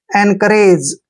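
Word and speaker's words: encourage: पढ़ेंगे ऐसे और जीई को ज पढ़ते हैं एंकरेज एन करज एनरेज होता है हिम्मत बढ़ाना साहस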